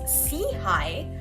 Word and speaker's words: SIHI: Innovation and health initiative SEI for short pronounced as as SE High which means upward and